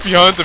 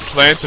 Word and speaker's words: Pianta: Everyone's like, it's not pronounced Pianta Village, it's pronounced Planta Village. Well, the names of the levels are in